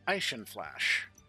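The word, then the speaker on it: Eishin Flash: So, uh, speaking of cute designs, uh, the one I have next is Asian Flash. And if she was truly German, her name would actually be pronounced Aishin Flash, but technically she was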